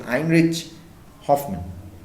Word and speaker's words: Heinrich Hoffmann: So the writer is a German, Heinrich, it's actually pronounced as Heinrich Hoffmann.